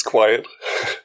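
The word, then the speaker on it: Qwiet: I don't know how to pronounce it. It's Quiet.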